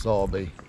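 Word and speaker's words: Sowerby: to live with crap views so is this sorby bridge Canal Basin yeah so sorry Bridge Canal Basin and for those of you who aren't aware it's actually spelled sour bee but it's pronounced sorby that looks good in the background through the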